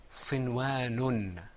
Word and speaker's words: صنوان: And that word is pronounced sinwanun.